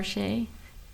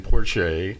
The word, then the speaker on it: Porche: much um um porch por Porche am I pronouncing your name correctly sir I I am hi my name is Porche okay good I as